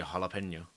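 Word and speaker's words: jalapeño: vastly different right yeah in Spanish you don't pronounce a j j is a h sound it be jalapeno it's like a roll of the tongue as well it's like jalapeno something like that I'm I haven't taken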